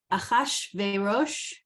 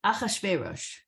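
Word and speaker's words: אחשורוש: Achashverosh. Achashverosh, okay. Some people say Achashverosh, depending on where you put the emphasis. But that's how I was taught to say it.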